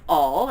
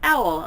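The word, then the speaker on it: Auel: I first realized that her name is not all it is pronounced owl like Oh WL so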